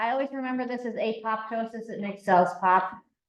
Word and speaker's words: apoptosis: always remember this as apoptosis it makes cells pop even though you're not supposed to say the second P it's like pterodactyl it has silent P I don't know why